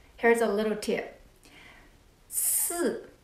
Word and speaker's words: 四: 四, when you pronounce 四, think about in English, stop, sorry, 四. And then 十, like sheep, she, 四 and 十.